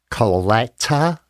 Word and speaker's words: Colletta: My name is Colletta, and you pronounce it the way it is spelled if you do it through the hyphens. Colletta, Colletta, T-A, Colletta.